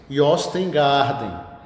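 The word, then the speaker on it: Jostein Gaarder: autoria do eh norueguês Yostengarden. Se escreve Jostengarden, mas o J com esse som de J de G, ele só é mais falado em língua portuguesa.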